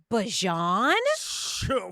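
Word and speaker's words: Bijan: who named him that his name is actually bajon what bajon and here's where this gets really interesting he calls himself be yeah remixed it remixed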